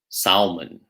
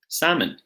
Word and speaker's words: salmon: is it Emma look exactly the silent L so not walk or Salman or calm no walk salmon some other examples might